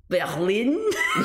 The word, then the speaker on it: Berlin: Berlin?